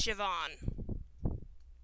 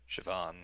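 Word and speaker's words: Siobhan: and for those wondering how you pronounce her name it's shavon shavon well I'll probably remember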